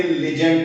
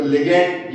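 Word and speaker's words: ligand: Water के molecule जो इसको सराउंड कर रहे हैं वो बेटा इसके लिजेंड्ड कहलाएंगे। इनको लिगेंड या लिजेंड जो भी आप प्रोनाउंस करना चाहे लेकिन लिजेंड्ड हम प्रोनाउंस करते हैं।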